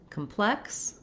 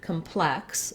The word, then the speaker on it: complex: In the word complex, the adjective, we have second syllable stress, which means the plex part of the word is held longer and has a clear vowel.